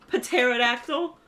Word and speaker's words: pterodactyl: need the pee teract why does that start with a P pterodactyl why is the P there thank you I love